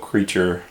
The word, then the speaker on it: Kreacher: creature by the way his name is spelled creature like from the harry potter movie remember the house elf named creature k-r-e-a-c-h-e-r we just thought that